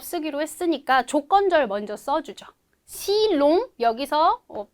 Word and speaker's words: si l'on: si long 여기서 펜 때문에 잘 안 보이지만 L 어포스트로프를 쓴 거는 우리 si on 이런 식으로 발음 안 하고 조금 더 부드럽게 발음해주기 위해서 편의상 그냥 L을 추가해준다고 했었어요.